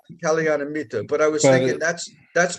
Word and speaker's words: Kalyanamitta: Kalamaitri? Well, that's Kalyanamitta, but Kalyanamitta.